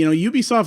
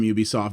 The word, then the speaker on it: Ubisoft: know how to pronounce Ubisoft? It's Ubisoft, not Ubisoft. Their name is a combination of the words ubiquitous and software.